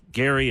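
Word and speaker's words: Gerry: Jerry Jerry Gary yeah it's it's Gary but it's spelled g e r r y remember when we didn't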